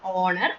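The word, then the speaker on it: honour: ஏன்னா ஹெச் வந்து எல்லாத்துலயும் சைலண்ட். சைலண்ட்னா என்ன மீனிங்? நம்ம அந்த வேர்டை ப்ரொனவுன்ஸ் பண்ணும்போது அந்த ஹ அப்படிங்கிற சவுண்ட வெளியில கேட்க கூடாது. அவர், ஆனர், ஹானஸ்ட் அப்படின்னு கேட்க கூடாது. அவர், ஆனர், ஆனஸ்ட் அப்படிதான் கேட்கப்படும்.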